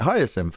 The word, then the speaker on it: hyacinth: sim higher synth pronunciation hyacinth oh i did pronounce it right higher sim okay wonderful yeah this one's pretty good um